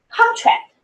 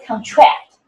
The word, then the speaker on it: contract: The stresses are different because for nouns, the stress always is on the first syllable. But for the verb, the stress is on the second syllable. For example, we have contract versus contract, which is a noun.